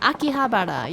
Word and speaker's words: Akihabara: that thanks for sharing oh yeah Akihabara you were close you were close you had the the last couple syllables correct Andy welcome back scorpion